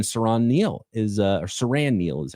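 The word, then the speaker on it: Siran Neal: And Saran Neil is uh or Saran Neil is how you pronounce it.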